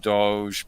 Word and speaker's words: Doge: and other Shiba Inu Doge pronunciations like pizza dough, but with a J at the end.